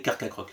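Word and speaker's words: Carchacrok: tout et c'est tout est-ce que vous saviez que ce n'était pas sa vraie prononciation parce que tout le monde le prononce mal c'est pas comme ça qu'on est censé le prononcer et oui puisque et oui il s'inspire du Carcharodon qui est donc l'ancien requin de l'époque et donc c'est censé s'appeler Carca croc mais tout le monde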